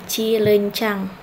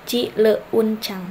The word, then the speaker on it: cileuncang: Monoftong yaitu 2 buah vokal yaitu E dengan U yang diucapkan menjadi vokal tunggal yang bunyinya berubah menjadi E. Nah, monoftong EU tidak dipenggal, misalnya cilencang. Jadi kita tidak memenggal misal cileuncang. Nah, tidak seperti itu ya. Jadi dipenggalnya atau dibacanya itu cilencang.